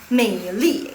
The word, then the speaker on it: 美丽: Bukan berubah apanya sih, cuman berubah misalnya nih Mandarin modern, Mei Li. Jadi kayak seperti Mei Li. Li itu sebenarnya di zaman dahulu dia ada nada keempat, Mei Li, Mei Li gitu loh.